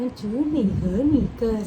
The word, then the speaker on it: 只你和你歌: สะกด พิ เพลง คุณ และ คุณ เท่า นั้น จือ หนี่ เหอ หนี่ เกอ สะกด พ ยิน ว่า Z สส จ n เสียง